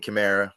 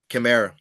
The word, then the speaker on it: Kamara: say um it's some weird way is this kimra you know what I mean so I don't I don't like when you mess up my name just keep it simple okay and and pronounce the last name chimra chimra okay perfect perfect okay